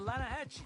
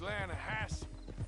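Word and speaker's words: Lannahechee: no no no no the the lah hatche it runs right near here yeah but it's pronounced lahash why is everything in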